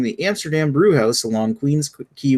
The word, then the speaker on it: Queens Quay: Amsterdam brew house along Queens Key West or Queens Quay hey you won't ever once you pronounce that a brew pub featuring a red key yeah and keys what I said first but some people might guess you had it right the first times like yeah right thanks